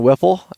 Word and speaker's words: Whipple: And I'm sitting here in beautiful Alaska with John Whipple. Did I pronounce that correctly?